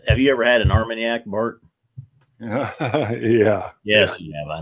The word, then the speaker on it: Armagnac: you ever had an Armagnac mark yeah yes yeah I know just kidding blind I did a blind and didn't know what and then I pronounced it arming gun nah it's like baby speak God that was embarrassing